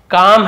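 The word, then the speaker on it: calm: इट इज काम ये काम है काम यानी यहां पर काल मुनि पढ़ेंगे एल साइलेंट काम यानी शांत है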